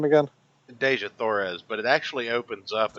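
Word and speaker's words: Dejah Thoris: Deja Thoris, but it actually opens up in the middle of a Deja.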